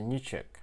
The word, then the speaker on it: ничек: Через Ч произносится, ничек.